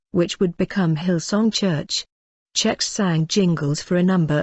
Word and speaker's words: Zschech: to the fact that people are going to stray with saying it correctly pronounced check Darlene manages to find